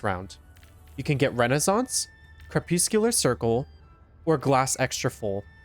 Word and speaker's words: crepuscular: It's crepuscular, but I don't really want to go back and edit all the footage, so enjoy me mispronouncing it.